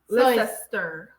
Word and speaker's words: Leicester: Cester is pronounced stir. Leicester, Worcester, Gloucester.